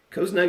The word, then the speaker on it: coznug: kozni c-o-z-s-n-u-g a mixture of cozy and snug cosnug is a feeling of warmth comfort and safety